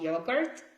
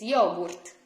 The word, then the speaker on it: yogurt: So it's not yogurt. It's yogurt, because we pronounce all the letters, all of them, but which one, do you remember?